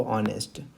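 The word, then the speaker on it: honest: इसमें as silent रहता है। जब आप इसको पढ़ते हैं तो उच्चारण क्या करते हैं? आप बोलते हैं इसको ऑनेस्ट।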